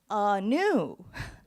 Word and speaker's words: Anu: means unique I go by Anu for short Anu Anu Anu aah oh no aah no aah like you're thinking like uh oh no oh okay ah new so I realized that having one's name pronounced correctly is this luxury I just never